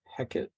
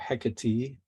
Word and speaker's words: Hecate: witchcraft you probably recognize heckett or hecatee you can hear it pronounced both ways you can look up